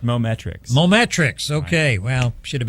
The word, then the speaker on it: Mometrix: this morning uh and i'm hoping that i pronounce this right uh moment tracks am i even close that is correct mometrix mometrix okay well should